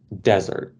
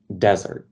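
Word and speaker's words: desert: взагалі значення тобто наприклад слово deathere це пустеля тобто ще раз послухайте Я кажу дезер А от наприклад якщо це саме слово скажу як покидати когось щось тобто я просто наголос змістив наприклад слово це вишуканий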